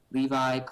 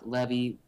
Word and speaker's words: Levi: right uh I it it's pronounced so many ways you can call me Levi Levy Lei I it doesn't matter I know do so